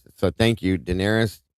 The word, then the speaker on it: Daenerys: I'll never be able to How do you pronounce this, Kim? Oh, Daenerys.